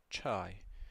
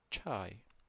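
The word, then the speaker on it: چاي: je Jamea Jamea Okay, we have che che as in church, chai. So, it's pronounced che che chai chai, tea.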